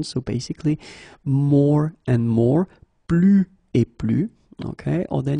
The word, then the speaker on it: plus: So the first example is plus et plus. Okay, so you can see that I don't pronounce the final S.